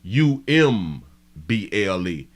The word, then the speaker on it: Humble: to um to Humble it is pronounced humble this place is pronounced humble u m b l e not humble not h m b Umble I don't know why